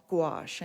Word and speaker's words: gouache: And the opaque watercolor ink is called gouache. I know it sounds weird, but it's spelled Gouache.